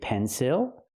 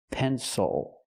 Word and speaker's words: pencil: use a different sound we use the sound o o like in water bottle or muscle Castle again the word is pronounced pencil not pencil but pencil is the